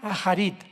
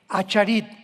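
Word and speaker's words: אחרית: Postreros es acharit, así como suena con CH, se pronuncia acharit, acharit.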